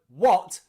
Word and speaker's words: what: remember them all, but the word what is an exception. It is an O. Here, the A sound is pronounced O. What?